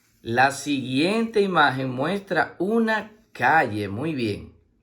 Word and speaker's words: calle: La siguiente imagen muestra una calle, muy bien. La palabra calle se escribe con C-A que suena K, doble L-E que suena Y.